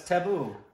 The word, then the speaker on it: Tabu: it be table table table oh no it's taboo I'm what I think but I thought somebody